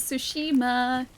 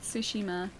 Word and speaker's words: Tsushima: Is the T in Sue supposed to emphasize the S? It's like sushima. I say sushima, though. probably pronounced it slightly wrong. Or it's it's sushima, I think. Uh but yeah, it's like a kind of silent t a little bit, at least for me.